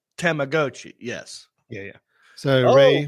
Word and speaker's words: Tamagotchi: Pronounced Tamagotchi.